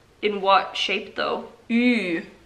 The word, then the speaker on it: ü: Say the sound E and purse your lips almost completely shut. E. Like, in what shape though? Ü.